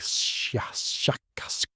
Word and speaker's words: shakas: Something like shakas with a very very strong pronunciation of the shh and k sounds.